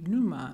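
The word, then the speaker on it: πνεῦμα: of the New Testament it's P and E you ma nu ma or with the silent P nu ma meaning like pneumonia right having to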